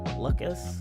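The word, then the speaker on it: Luckas: was Mike luckus uh that's how you pronounce it I think l u c k a s luckus like luck ass I guess but all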